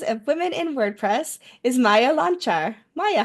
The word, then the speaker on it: Maja Loncar: Joining me next for our series of Women in WordPress is Maja Loncar. Maja, how are you? Well, I feel great because you're the first person who pronounced my name properly.